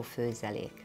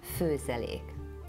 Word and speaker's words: Főzelék: If you see a comma on the top of the O, it's still an O, just longer. O. The second word is Főzelék.